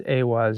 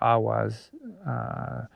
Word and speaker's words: Eihwaz: that we have, it, Eihwaz, or what some pronounce as Eihwaz or Ahwaz, is the yew tree and bows.